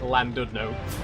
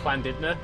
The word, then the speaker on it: Llandudno: I pronounced, you know, the first time I read it out loud, I said it as like Llandudno. But I think it's Llandudno. I think that's right.